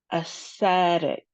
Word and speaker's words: aesthetic: We have three syllables and the second syllable is emphasized. So, it looks like we have short sounds. So, let's try it. aesthetic aesthetic aesthetic Very good.